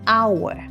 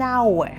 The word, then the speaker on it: hour: like an apple an hour and an interesting story funny fact our starts with an H but H is silent so it actually starts with a wowl sound making at an hour English am I right